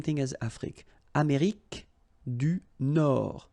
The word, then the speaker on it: Nord: Amérique du Nord, final D not pronounced.